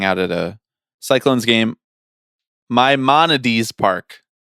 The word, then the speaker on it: Maimonides: Maimonides Park. Maimonides. We learn, we grow, we evolve. We learn how to pronounce things.